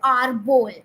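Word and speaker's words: árbol: Now again, tree is known as arbol, and again the accent mark, that slash accent mark would come on A to stretch the A to arbol.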